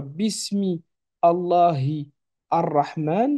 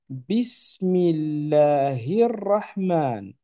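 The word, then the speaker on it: بسم الله الرحمن: Rappelez-vous que le L de l'article ici ne se lit pas. Et ici, on a en plus de ça une liaison. Ce qui donne non pas Bismi Allahi Ar-Rahman, mais Bismillahir-Rahman. Pareil, à la fin de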